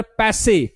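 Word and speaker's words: passé: तो antiquated thinking, archaic thinking, या अगर मैं बोलूं यार पैसे, इसका प्रोनाउंसिएशन याद रखना, पैसे, है ना।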